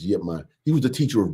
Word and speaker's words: Ip Man: They spell it IP in Mandarin, but in Cantonese it's Yip Man.